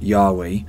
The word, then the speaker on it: Yahweh: god spelled in hebrew most scholars believe god's name was originally pronounced yahweh for the last couple of thousand years jewish people have been saying adonai which means my master or lord instead of saying god's holy name i'll be following that